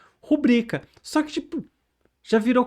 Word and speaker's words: rubrica: Tem muita gente que pronuncia rúbrica e já tem dicionários começando a aceitar rúbrica com essa tônica no u. Mas o certo é rubrica.